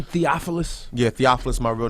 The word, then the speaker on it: Theophilus: Theophilus London is how you say his name.